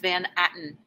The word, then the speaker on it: Van Atten: do you say it mrs van atten yep this is manhattan if you are listening shout